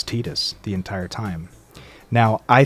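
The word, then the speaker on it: Tidus: I have your autograph of course also I pronounce it tetus and that's because they say tetus in the deia games and also I grew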